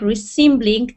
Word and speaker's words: reassembling: another, sort of like reassembling an apple that has been cut into superfine slices. Great. One more pronunciation issue. Reassembling. Reassembling. Yeah. Assembling. When it's a prefix, re will be pronounced re.